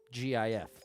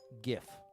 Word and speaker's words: GIF: The point is, the way it's pronounced in that first word, graphic, is what dictates to me the way I'd say GIF, GIF. But I wouldn't call it wrong to say GIF.